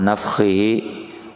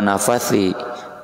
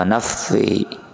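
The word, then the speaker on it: نفثه: 1 aja, min hamzihi wa nafthihi wa nafthihi, bukan wa nafathi, wa nafthihi, dimatikan fa-nya.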